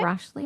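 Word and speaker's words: Rashleigh: He was born Jonathan Rashley Knight. It's spelled R A S H L E I G H. Okay. Rashley.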